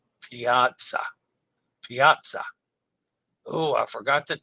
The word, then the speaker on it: Piazza: person yes indeed p Piazza Piazza oh I forgot the T pronounced like pizza with I in the middle Piazza see Dennis I